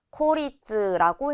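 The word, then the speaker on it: 孤立: 고립되다라고 할 때에도고 왔기 때문에 짧게 코 읽어서 코리즈라고 해 주시면 되겠습니다.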